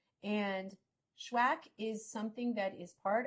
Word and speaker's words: SHUAC: I always want to say accepted which is also true and connected and those things spellwack and it's pronounced schwack like have you swacked someone today or has someone you